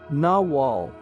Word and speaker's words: nagual: Nagual, pronounced nawal, was the name given to the animal into which sorcerers could allegedly transform themselves, or to the sorcerer that elicited such a transformation.